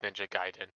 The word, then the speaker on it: Ninja Gaiden: I know it's a little nitpick, not about the trailer, but for what you're saying, it's pronounced Ninja Gaiden.